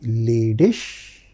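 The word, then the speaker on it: ledig: Next question which came to my mind which I brought for you is Zinzy Leish ordered Zinzy Leish ordered leish ending is ig ending is ig. So that is pronounced as sh.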